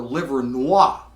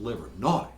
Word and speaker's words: Livernois: If you're ever in Detroit and you want directions to Baker's, do not ask for Livernois. That's the way it's spelled. It's pronounced Livernois.